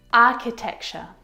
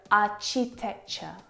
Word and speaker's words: architecture: is so often mispronounced I hear our cheap texture are cheap picture which is incorrect the CH sound in this word is a sound like in cat architecture architect architect it's not the same CH sounds that you hear in words like chocolate and cheese it's a sound and there are quite